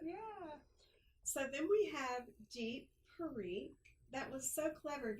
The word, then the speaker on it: Deep Parikh: So then we have Deep Parikh. That was so clever of your parents to have a last name that Right? rhymes with your first name.